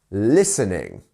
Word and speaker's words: listening: next we have listening listening where's our stress it's on the first one listening listening not listening or listening you see um next we